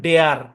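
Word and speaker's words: dare: যেমন দেখেন, ডি এ আর ই এর উচ্চারণ কি হবে? একটু মেলানোর চেষ্টা করেন। ডেয়ার। কি উচ্চারণ হবে? ডেয়ার। এভাবে হবে, বাংলায় লিখি। ডেয়ার, এভাবে হবে ডেয়ার। এখন অনেকে ভাবতে পারেন যে ভাই এখানে এ গেল কই। ভাই এই এটা ডি এর সাথে যুক্ত হয়ে গেছে।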